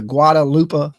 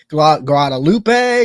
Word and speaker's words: Guadalupe: it sits right on the edge of the Guadalupe River. Hopefully I said that right. I didn't murder it too bad. Guadalupe, Guadalupe.